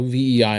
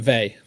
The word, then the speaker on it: VEI: So VEI is what I'm going with here. You were right with they. Okay, perfect. I'll remember that. VEI. Yeah, because I've often say to people it rhymes with they, but I want to